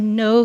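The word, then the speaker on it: Noh: We've actually found 4 Japanese specialists in theater that are coming from around the country to perform a no theater play. That's spelled N-O-H theater, and that's like traditional Japanese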